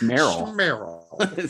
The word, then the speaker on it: Meryl: Does her name also rhyme with Daryl? Like Carol's? It's Meryl. Meryl.